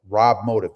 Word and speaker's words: RobMotive: Okay, it's said just like it's spelled, RobMotive.